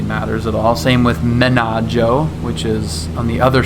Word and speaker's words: Menaggio: So even though you'd probably say Bellagio, it's actually pronounced Bellagio. Not that really matters at all. Same with Menaggio, which is on the other side.